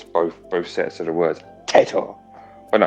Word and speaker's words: Taito: Everybody's corrected me on it, and I've not heard another single person say it another way. It's Teto. Teto. Teto.